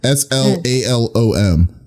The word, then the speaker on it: slalom: you say the word slayum slayum okay slum s l a l o m interesting oh SL you mean slalom that's why